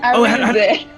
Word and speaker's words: Arinze: Oh, you pronounced it wrong. It's Arinze.